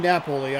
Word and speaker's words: Napoli: He pronounces his name Napoli.